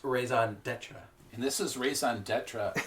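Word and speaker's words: Raison D'Etre: the seller and the raisin estra I think is up next actually Alex it's pronounced raison Detra and this is raison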